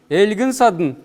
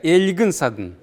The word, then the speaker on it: Эльгин садн: Эльгин садн. Л мягкая. Эльгин садн. Да? Как в транскрипции.